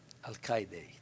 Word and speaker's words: Alcaide: Alcaide, David Alcaide. I wanted to get the pronunciation straight, so I asked him.